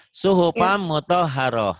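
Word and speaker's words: صُحُفًا مُطَهَّرَةً: Suhupam mutoharoh.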